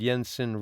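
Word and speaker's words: Jensen: is called yon David Yensen roll part one and part two yon David is J N David and Yensen is spelled j n ssen now in that video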